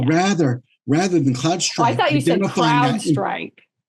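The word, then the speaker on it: CrowdStrike: will fit fill in the gaps of what Cloud Strike has. And so rather rather than cloud strike crowd strike.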